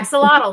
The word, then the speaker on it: axolotl: Yeah, axolotl.